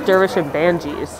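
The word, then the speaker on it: Dervish and Banges: a constant in my life but he says dervish and banji's so now i feel like i should say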